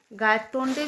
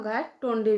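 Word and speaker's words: Gaitonde: अब यहाँ पे आप उनको गायटोंडे भी बोल सकते हैं और गायटोंडे भी बोल सकते हैं। Both pronunciation are correct. So professor गायतोंडे Pune से बॉम्बे की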